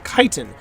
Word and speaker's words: chitin: chitin o is kaiten kaiten it's not it's pronounced chitin and that's according to his high school high